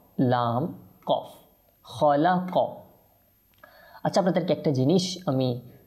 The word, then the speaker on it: خلق: ওকে আচ্ছা তারপর দেখেন খলাক এটা খ এটা কফ খলাক খ লাম কফ খলাক আচ্ছা আপনাদেরকে একটা জিনিস